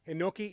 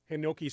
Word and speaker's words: Hinoki: He picked up a fern-leaf Japanese Hanoki Cyprus and wants to know about that particular species. Oh, okay. And I hope I'm pronouncing that right. Hinoki?